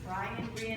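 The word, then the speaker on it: Brien: call them um the how did you pronounce it Brian it's b-r-i-e-n the Wren family and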